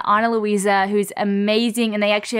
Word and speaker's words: Ana Luisa: Again, that's Ana Luisa. It's spelled A-N-A-L-U-I-S-A.